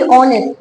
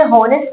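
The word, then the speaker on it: honest: बी ऑनेस्ट। इसे हॉनेस्ट नहीं पढ़ते, because the sound of द H silent here. आपने ऑनेस्ट पढ़ना है।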